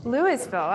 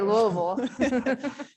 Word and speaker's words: Louisville: butcher that louisville colorado how do you say it here louisville lewisville oh we say louisville yeah we enunciate um she was at